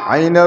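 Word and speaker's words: عين: মাথা দিয়া দুই হরফ আইনের উপরে নুক্তা দিলে গই আইনের আইন নুক্তা মুসিয়া ফেলিলে আইন নুক্তা মুসিয়া ফেলিলে আইন আইন উচ্চারণ করার সময় কন্ঠ আলিফ হলকের মধ্যখান থেকে উচ্চারিত হবে আইন আইন আইন গলা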